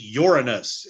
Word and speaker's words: Uranus: That is Uranus, and I assure you, that is how you pronounce the name of that planet.